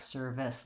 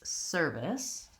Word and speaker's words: service: Then if I change to service, we don't actually stress it like service like I just did. It's service. Again, first syllable stress.